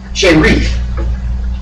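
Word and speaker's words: שארית: The definition of the word from the Strong's Concordance for the word remnant, it's a Hebrew word pronounced sherith.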